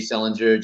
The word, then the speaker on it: Selinger: It's Sellinger, just like JD Salinger, a catcher in the rye.